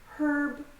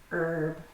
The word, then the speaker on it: herb: This is also pronounced without an H sound in American English. In British English, they pronounce it herb. In American English, it's herb.